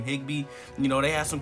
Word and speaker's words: Higbee: Higbee.